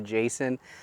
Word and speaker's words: Jasion: Again, this is the Jasion, if you pronounced it as it's spelled. I've heard some people call it the Jason, but regardless of how you pronounce it, it's a fantastic little foldable bike.